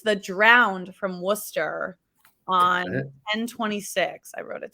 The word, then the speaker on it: Worcester: this uh podcast I didn't know how to pronounce Worcester I was like calling it worship yeah Worcester Worcester Worcestershire sauce conversation with someone I was yeah